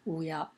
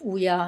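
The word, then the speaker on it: 乌鸦: again, wu ya, and it's pronounced wu ya, both in the first tone, wu ya. Okay, the one to the right of wu ya in the second row,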